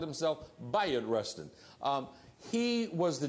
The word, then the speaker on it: Bayard Rustin: that day bot Rustin his name is often pronounced Bayard Rustin because that's how it's spelled but he called himself Bayard Rustin um he was the G he was the